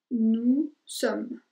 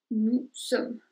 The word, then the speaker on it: nous sommes: Nous sommes. Ahí no vas a pronunciar la S al final. Pretendes que no existe. Nous sommes.